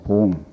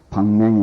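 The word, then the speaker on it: 棒: 한번 말씀드린 것 같습니다만은 지금 우리 한국에서 쓰는 한문 발음으로는 이걸 갖다가 이제 봉이라고 그럽니다. 봉. 그 뭐 몽갱이 뭐 방맹이 뭐 이런 이제 봉이라고 하는데 그 봉술이라고 이렇게 하죠. 그런데 성가에서는 그 방이라고 그래요. 방. 그래서 이 중국 요즘 현대에서 그 중국에서 현재 쓰고 있는 발음이 어떻게 되냐 하고 물어보니까 그 중국 발음이 방으로 나온다 그래.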